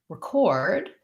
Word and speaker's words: record: some information to you record my first vowel becomes the so often with letter e in an unstressed first syllable like between or record i have my s